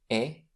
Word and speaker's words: et: So there can't be any liazison among others in the following two cases after the conjunction e which means and have a look e. We never pronounce the t at the end and and before ash asp.